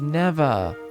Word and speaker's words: Neveah: Oh, it's pronounced Neveah.